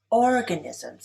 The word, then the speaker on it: organisms: Organisms is stressed on the first syllable.